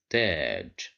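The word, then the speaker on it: تاج: Here we have the letter ta controlled by fatha, and then we added the letter alif, so we have mad bil alif. Here the sound is longer than we are used to deal with, so we will pronounce it as taj.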